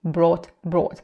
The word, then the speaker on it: brought: канале это слово Bring brought помним что вот это г ХТ Да читается одним звуком Т сосед перед нами слово